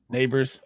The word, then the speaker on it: Nabers: we doing why did I draft neighbor nabers Neighbors all right how do you say Malik's name